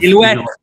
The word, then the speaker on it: silhouette: higher Ziller-Hot score of Silhouette. We did the last time, right? We said the last time. It's French. The pronunciation is silhouette.